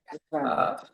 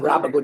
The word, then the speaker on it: Rabago: It's Rabago. I pronounce it Rabago, Judge.